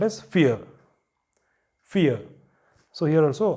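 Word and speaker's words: vier: And next is the number 4 is called as fear. Fear. So here also R is coming in the end and you don't pronounce it. And it is not veer, it is fear, because V is fow.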